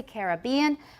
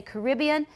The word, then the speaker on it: Caribbean: example it says that british speakers tend to say caribbean americans say caribbean but this is not really valid all the time because i say both i say a caribbean cruise it sounds more romantic i'll say the caribbean sea but a caribbean cruise